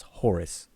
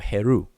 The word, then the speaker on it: Horus: The Netcher that we know as Horus or Heru or Haru, depending on how you want to pronounce it.